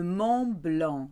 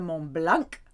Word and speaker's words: Mont Blanc: Le Mont Blanc, not the Mont Blanc, it's blanc.